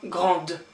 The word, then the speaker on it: grand: it has to become grande. Okay, but in my case, because I'm a man, it's grand, and you don't pronounce the D here.